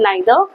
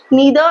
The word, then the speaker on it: neither: I prefer either and neither similarly neither and neither both are correct pronunciation okay it's acceptable so